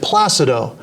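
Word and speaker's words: Plácido: name and he said Placido okay then he told Domingo yeah like Placido Domingo and then Dan Baker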